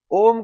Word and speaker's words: ओम: ओम का भी मैंने आपको सही उच्चारण करके बताया था। आपको मुंह खोलना नहीं है। होठ बंद रख के आप ओम का उच्चारण करो।